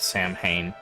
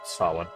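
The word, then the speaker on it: Samhain: Just how you're supposed to say that by the way, not Sam Hayne, which is how people usually pronounce it. It doesn't really matter how you pronounce it, but yeah. Sawin.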